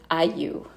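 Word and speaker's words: ayllu: All right, the next word is also a Quechua word, and it is Ayu. And it's not Ayu. Yes, it's not spelled like it sounds.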